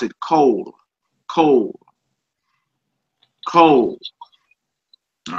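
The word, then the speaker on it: כל: for all, every, or the whole, and you pronounce it cold. Cold. Cold. All right. It's the kaf and the lamed. Cold. Cold. Some people say call, like you're making a call, but cold.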